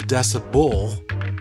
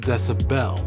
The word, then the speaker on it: decibel: It's also weird in its pronunciation since we commonly slur it into decibel instead of decibel.